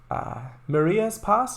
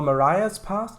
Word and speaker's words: Marias Pass: And you're driving on the Maria's Pass, or Mariah's Pass, depending on how you want to pronounce that route.